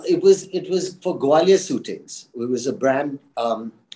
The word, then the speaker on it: Gwalior Suitings: was it was for gwalior suitings it was a brand um owned by the billas I believe where uh and I've mispronounced it by calling it gwalior shootings and um Mr Billa